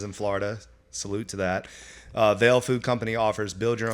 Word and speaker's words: Vale: Vale Yep. Food Company, which, by the way, I've experienced. It's phenomenal. A rapidly growing, healthy, fast, casual restaurant with 10 locations in Florida. Salute to that. Vale Food Company offers build your own bowls, acai